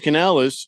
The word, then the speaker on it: Canales: Hey, so you know how the Panthers have that new head coach, Dave Canales? Yeah. Oh, I said it right. Yeah. Dave Canales, and so he came out, and I think this was my first clue.